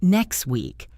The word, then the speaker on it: next week: For example, the phrase next week, we rarely pronounce the T at the end of next. We say next week.